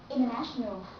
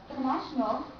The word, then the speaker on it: international: with M it means when n and T goes together then you don't have to pronounce the sound to you link these two together and say winner internet International once more International internet and winner but I wonder if